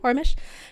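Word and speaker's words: Poromish: unquote porish unrest that's how you say it porish perfect slay I I I won that Violet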